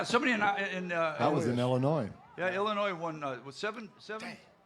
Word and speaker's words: Illinois: The gentleman down here on my left is from the great state of Illinois. The S is silent, and he plays all kinds of instruments.